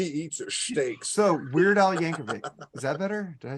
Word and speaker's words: Yankovic: So Weird Al Yankovic. Is that better? Did I say it right Yes, there? Yeah, sir. Yankovic. Yeah, not Well, Yanker.